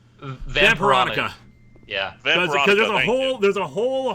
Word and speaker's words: Vampironica: Jughead, The Hunger versus How do you pronounce that? Vampronka? Vampironica.